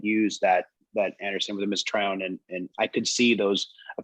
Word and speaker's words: Mesotrione: How you say it? Mesotrione. Yes, sir. Thank you.